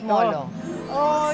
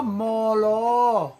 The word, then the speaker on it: Molo: they were Chinese they could not of course pronounce R. And Molo would also mean port. Marvin ano pangalan lugar niyo? Ahy ito po Moro. Ah Moro.